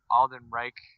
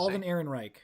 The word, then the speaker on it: Alden Ehrenreich: I don't know how to say his name, but Alden Reich. How do you say? Alden Ehrenreich.